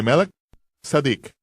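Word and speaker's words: מלכי צדק: Él estaba actuando como un sacerdote según el orden de Melquisedec, o como se debe pronunciar, de Melech Sadik. Melech, rey, Sadik, justicia.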